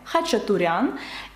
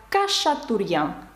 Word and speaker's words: Хачатурян: Якщо ви звернули увагу на мій канал YouTube, мене звати Хачатурян, і моє прізвище французи вимовляють як Кашатурян, тому що в них немає звуків «х» та «ч».